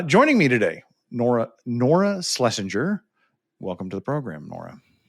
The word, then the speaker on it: Schlesinger: Uh joining me today, Nora Nora Slesinger.